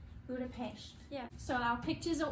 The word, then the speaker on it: Budapest: a brutal fish it's budapest that's how you say it everyone says it like that but actually in hungarian the s is pronounced like shh so budapest budapest yeah so our pictures